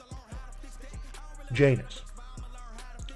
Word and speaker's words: Janus: his name two-faced God Janus rhymes with anus joke but anyway uh